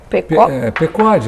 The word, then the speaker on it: Pequod: Como é que se pronuncia que é francês? Pecode, eu digo Pecode. Na verdade é em inglês isso, Picod seria, que é o nome de um navio, na verdade é o